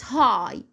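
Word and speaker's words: high: كلمه ايه زي كلمه هاي هاي اللي هي بمعنى عالي ادي الجي والاتش يا مس جت معايا في اخر الكلمه بس هنا ما نطقناها دي حالات شاذه طبعا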